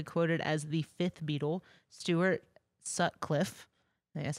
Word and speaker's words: Stuart Sutcliffe: member he's actually quoted as the fifth Beatle Stuart Sutcliffe that's how you say it I mean he